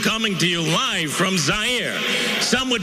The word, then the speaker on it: Zaire: Howard Cosell coming to you live from Zaire. Some would pronounce it Zaire.